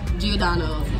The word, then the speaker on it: Giordano's: Giordano's. And y'all know Brittany because last time I was here in Chicago, y'all seen Brittany. Look how fast. Hey, sis is looking good. So we are at Giordano's and we are eating our pizza, you guys.